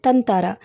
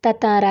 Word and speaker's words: ततारा: ततारा या फिर तनतारा। क्योंकि इसका जो शुद्ध उच्चारण है यानी सही जो उच्चारण है वह क्या है? ततारा ही है।